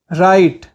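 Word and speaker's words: write: करना greet greet लिखना राइट राइट राइट में डब्लू साइलेंट होता है चिल्लाना स्क्रीम स्क्रीम चारों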